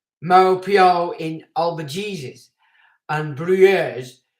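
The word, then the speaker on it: Maupeou: of malpua which is m-a-u-p-e-o-u mo pio in albert jesus and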